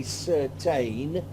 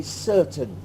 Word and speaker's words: certain: also schhwaff certain certain we don't say certeyn in English we say certain certain and ceremony the Oh